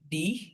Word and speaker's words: dich: হি উচ্চারণ করার সময় জিহ্বার অগ্রভাগ তালুর সাথে লাগানোর ট্রাই করব।